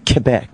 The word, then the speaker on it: Quebec: Quebec, as Alex Trebek says. Quebec. That's how it's in pronounced.